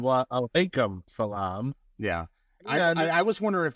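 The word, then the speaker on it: وعليكم السلام: He's gonna say salam alaikum, and then you're gonna say walaikum salam. No, it's salam alaikum and wa alaikum salam.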